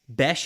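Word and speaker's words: Bech: higher um Jack bash bash is how you say his last name correct bash what I've heard all right so Jack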